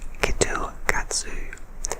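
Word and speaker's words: キットカット: tea grip and wasabi the Japanese pronounce KitKat like kitu katsu which means you are sure to pass in Japanese and so they make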